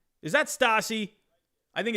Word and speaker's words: Stassi: Is it Stassi or is it Stacy? I'm gonna lose my mind. I think it's Stacy. It's Stacy. No, it's Stassi. It's Stassi. Stassi, right there. Right? Is that Stassi?